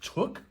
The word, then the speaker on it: TUCCH: The company, I believe the company's name is pronounced TUCCH.